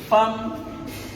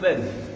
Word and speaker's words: femme: Femme qui s'écrit F-E-2-L-E, qu'on ne dit pas femme ou femme. On aurait pu écrire avec A.